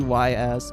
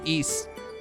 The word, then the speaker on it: Ys: Uh my all-time favorite is going to be YS. Oh, sorry, East. I keep forgetting it's pronounced East, but I grew up calling it YS.